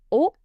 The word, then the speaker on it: haut: Haut. Haute. Silent H. Silent T if it's last ending.